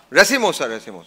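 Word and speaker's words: racemosa: Anish, I'll never pronounce it right. Bahunia Resmosa? Is that right? Somewhere. Resimosa.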